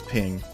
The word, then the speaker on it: PNG: PNG or pink ping officially you're supposed to pronounce PNG as ping and that's not a